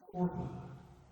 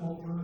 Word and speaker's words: Orpah: Because so many people pronounce it Oprah, she just went with that for the rest of her life.